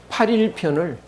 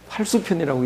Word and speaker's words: 팔일: 공야장 이걸 공치장으로 읽어 가지고 공치장 팔수편 읽었다고 그 시원치 않게 공부한 사람을 그렇게 하는데 이것도 8일편을 8수편이라고 읽 잘못 읽을 수가 있는데 8입니다.